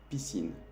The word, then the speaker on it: piscine: Aquí tenemos la palabra piscine, que es la traducción literal de piscina. Aquí ves que tenemos la S y la C y que hace el sonido S.